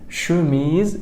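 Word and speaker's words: chemise: شي حلو بعد كده الاس من حرفين متحركين تتنطق زد شيز شميز جميل عندك التلات حروف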